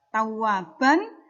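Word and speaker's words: تَوَّابًا: Ya, tawwaban ketika dia menjadi bacaan mad iwad, maka dibacanya adalah tawwaba.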